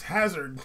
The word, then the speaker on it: Hazard: You can't pronounce his name right. Right. Okay. It's Hazard, son.